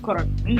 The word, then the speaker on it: Coronin: Coronin. Yeah. Coronin. Exactly. And nobody can pronounce it anyway.